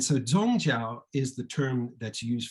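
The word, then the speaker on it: 宗教: in neologism and uh the same characters are pronounced zongzhao and so zhongzhao is the term that's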